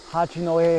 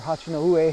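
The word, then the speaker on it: Hachinohe: And from Tokyo Station you can get on the Shinkansen or bullet train, and it takes you to Hachinoe, or Hachinoue is how it should be pronounced, but anyway, you can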